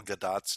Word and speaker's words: Gadot: I do have to be my quibbling self with your pronunciation of Gal Gadot's name. Because she's not French, she's Israeli, and it's actually pronounced Gadot.